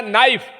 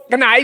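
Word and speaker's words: knife: हमने पहले लिखा एन तो कहता है गधा पहले के होता है क्यों कनाई बोल रहे हैं क्या आप नहीं वो साइलेंट क्यों चुप क्यों क्यों करता है इस लैंग्वेज का यही नियम है इसमें तमाम साइलेंट होते हैं वह सब जानना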